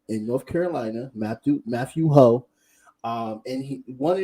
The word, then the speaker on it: Hoh: yeah yeah and um your last name is pronounced ho right yeah yeah yeah catch you